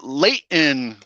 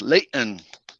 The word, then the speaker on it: Layton: general area no gentlemen late in that's how you say you don't say the t it's pronounced layton so are you like